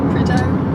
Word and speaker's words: Prideaux: Always say it wrong. Predo. Predo place. I always get the intonation a little bit wrong.